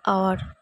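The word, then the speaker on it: hour: ওয়ার্ডটি vowel sound দিয়ে শুরু হচ্ছে example an আওয়ার an honest effort an এয়ার অ্যান অনরেডিয়াম মনে রাখবে এইচ যদি সাইলেন্ট থাকে তবেই অ্যান ইউজ হয় এইচ উচ্চারণ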